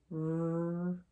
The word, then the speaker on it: wrench: So remember, again, W is quiet at the beginning of the word. We go right to the R.